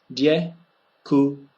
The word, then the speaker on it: děkuji: If you use the two English words dick and we, so dick and we, and you say them quickly together, děkuji.